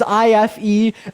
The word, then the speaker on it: Ife: That is IFE, pronounced Ife.